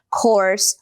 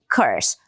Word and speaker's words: course: Tanto que tem até uma rima que é of course my horse. É claro que sim. Então, of course, my horse. Lembra disso que você não vai mais pronunciar curso como curse.